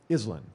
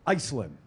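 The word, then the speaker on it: Iselin: was born and raised there is called Island islin i-s-e-l-i-n okay and so Dave's talking about I'm actually driving here to the studio because I had a show at 9am and he pronounces it Iceland and I heard this the first time I'm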